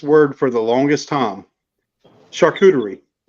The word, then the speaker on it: charcuterie: Charcuterie. Like a Oh, charcuterie board. Charcuterie board. Oh, wow. And the way I remembered to actually pronounce it, I started saying shark cootie. Shark cootie board.